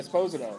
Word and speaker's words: Esposito: break down it's okay though do you like Esposito or Esposito I like I suppose you know oh because that's really the way it's pronounced so what What attracted you to this